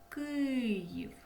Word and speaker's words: Київ: Запоріжжя наголос на і Київ наголос на и у слові Львів у